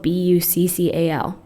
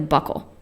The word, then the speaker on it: buccal: know it was spelled b-u-c-c-a-l I thought it was spelled like a buckle like no it's buckled with jeans buccal it's wow yeah wow